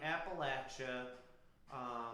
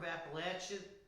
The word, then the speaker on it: Appalachia: The Arc of Appalachia extends into southwestern of Ohio, and they love to pronounce Appalachia. Appalachia. I don't know why. You go to Appalachian State, that's how they want to say it.